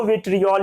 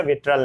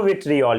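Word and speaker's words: vitriol: इसको बोलते हैं बताइए ब्लू विड्रॉल है की स्पेलिंग विट्रियोल है ब्लू विट्रियोल कि बोलिए विड्रॉल नहीं बोलिए ब्लू विट्रियोल क्या बोलिए ब्लू विट्रियोल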